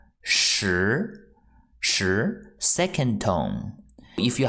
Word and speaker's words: 时: this character mean it means time and the pronunciation is sure sure sure second tone if you have watched uncle